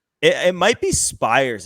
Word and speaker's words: Spiers: Carson Spires. Okay, Spires, like Mike Fires.